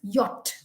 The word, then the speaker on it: yacht: But the correct pronunciation of that is yacht.